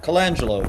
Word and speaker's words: Colangelo: Colangelo, just as you see it.